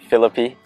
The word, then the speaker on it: Philippe: we pronounce it philippe but yeah honestly heard it all um all